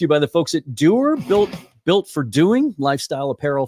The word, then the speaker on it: Duer: That's one of the trademarks of Doer, but they're also built to last.